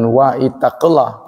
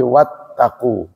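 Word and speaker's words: واتقوا: Jadi asalnya ittaqulah tapi karena hamzah yang ada di ittaqu adalah hamzah wasal maka dibaca enggak dibaca. Jadi bukan wa ittaqulah tapi wattaqu.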